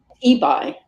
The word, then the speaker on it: Ebi: For many years I assumed it was Ebby. I don't know why. Well, okay. That's how you pronounce it in Europe, or parts of Europe you pronounce it that way. But okay. It's Ebi.